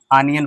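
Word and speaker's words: onion: ओ को आ भी पढ़ते हैं या आ पढ़ते हैं, जैसे ऑनियन, आनियन पढ़ते हैं, ठीक है, आनियन।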